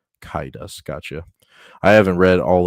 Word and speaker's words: Caedus: It's pronounced Kaidas. Kaidas, gotcha.